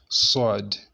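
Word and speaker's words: ص: We pronounce it like that, Sword.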